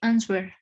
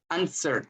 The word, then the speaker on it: answer: After a reflective silence, he answered. Answer. La W no se pronuncia.